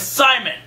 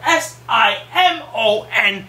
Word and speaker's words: Simon: out of guys dicks his name is Simon pronounce it correctly for sake we don't live in Belgium you live in in England where s i m o n is Simon real good contest between